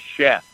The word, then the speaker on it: Sheff: My last name is Sheff, but it's spelled with an S.